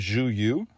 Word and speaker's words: Zhu Yu: It is by a Chinese artist named Zhu Yu. Spelled Zhuyu. I heard that spoken, so I'm pretty sure that it's an accurate pronunciation.